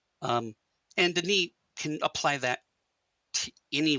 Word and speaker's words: D'ni: In a way, Denis, when we split it into two syllables that way, is not how a Denis speaker would have actually said it. They would have actually said Denis as one single syllable, with the d, as really shortened d.